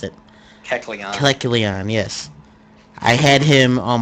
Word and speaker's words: Kecleon: Because besides the plus level mining I used to run in third gen, I also had a Kelecon. I can't even pronounce it. Kecleon, yes.